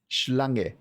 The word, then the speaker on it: Schlange: If you see the SCH in German, then that's pronounced the same way you pronounce an SH. So like, well, not quite. It's more like no, actually, it is exactly like it, like in school. No, that doesn't work. Like in a shift.